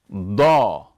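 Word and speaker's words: ضَ: Likewise, when it comes to the letter daad, when it has a fatha, we're going to pronounce the heavy D and A as daw, similar to how it would be pronounced in the English word dawn, in contrast to how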